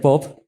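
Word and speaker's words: Pope: con el poeta inglés del siglo 18 alexander popp si se dice así sí sí se pronuncia así el a como una frase muy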